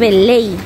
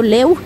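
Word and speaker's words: lei: estas fundas a 6.9 Ley Ley a veces yo pronuncio leu pero es ley la moneda rumanas es ley ellos no manejan el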